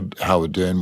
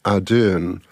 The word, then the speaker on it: Ardern: in his time, Marcus Ardern. He pronounces his name a little differently. So you've got Ardern and Ardern.